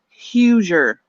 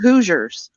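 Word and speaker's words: Hoosier: no she calls it Huger Indiana hoer they're called hooers but she says Huger oh she says Huger yeah oh she lives in the goddamn hooer State and doesn't pronounce it right what the [ __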